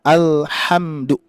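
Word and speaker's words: الْحَمْدُ: Alhamdu ya posisinya di tenggorokan mana ayah bunda? Ha ha ya alhamdu ya bagian tengah ya.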